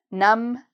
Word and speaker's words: numb: Numb, dumb, climb. When you see MB together, the B is usually silent.